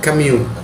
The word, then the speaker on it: Camus: dia adalah Albert C tulisannya Albert camus tapi kita bacanya Albert kemu Dia adalah seorang pemikir